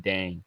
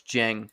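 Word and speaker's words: Dieng: I'm like, why are you drafting Ousmane Dang? I know. First of all, it's Jeng, but don't worry about it.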